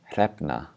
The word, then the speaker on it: hrefna: So the first word, hrefna. If this is really hard for you, just try pronouncing the two letters separately. The h for the H and then the r for the R.